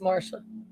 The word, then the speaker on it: Marcia: Spelled Marcia, but it's pronounced Marsha.